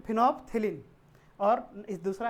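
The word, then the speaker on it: phenolphthalein: एक है फिनोप्थेलिन, देखो नाम पूरा है फिनोप्थेलिन, लेकिन पढ़ने के समय में एल साइलेंट कर देना। तो फिनोप्थेलिन, और इस दूसरा है मिथाइल ऑरेंज।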